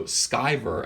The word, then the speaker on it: Sciver: my whole entire life nobody can imagine you know the letters s CI and and there being a hard C sound in there because